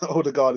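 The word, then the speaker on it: Ødegaard: The Odegaard is pronounced like the U in Bern.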